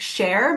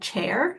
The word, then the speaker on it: share: Share, make sure you're familiar and sound this out. Share. If you talk really fast or not pronounce things properly, it could sound like chair, like what you sit on, and that's not correct.